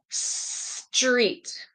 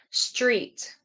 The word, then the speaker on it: street: can all see it remember t turns into a street street right so street street there we go Street and of course